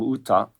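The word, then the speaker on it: 歌: And then Ka, in this case, is the character for song, Uta, usually pronounced Uta, and you can see like open mouths.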